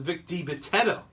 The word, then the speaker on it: Vic Dibitetto: It's Vic Dibitetto.